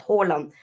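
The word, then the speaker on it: Haaland: we say Ali but Holland that's that's how we pronounce his name here um but I know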